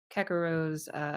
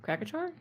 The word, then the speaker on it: Krakachor: Did I not say it right? I'm sorry, man. Krakachor, right? Oh, Krakachor, okay.